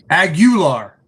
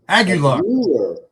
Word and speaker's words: Aguilar: Aguilar, I believe is what it is. Did I say it right? You were very close. Oh, Say it with, and don't pretend there's not an I there. Aguilar. Aguilar.